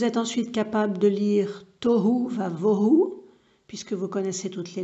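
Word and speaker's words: תֹהוּ וָבֹהוּ: Hu, vous avez le Vav avec un point à gauche du Vav pour dire que ça va se prononcer Hu, donc Tohu. Va, ici c'est le Vav de coordination pour dire Et. Vohu, Bet avec un point au-dessus du bet pour dire vo, hu, tohu vavohu.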